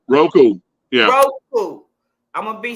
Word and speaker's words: Roku: How do you say it? Roku.